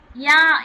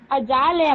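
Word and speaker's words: ja: ஜாலியா மேம்? ஆமா யா. ஜா கிடையாது. நான் ஜேவை என்ன ப்ரொனவுன்ஸ் பண்ண சொல்லிருக்கேன்? Yard. Yard. Yes ma'am. Yes ma'am. அப்ப இங்க என்ன வரும்? வை ப்ரொனவுன்ஸ் தானே வரும்.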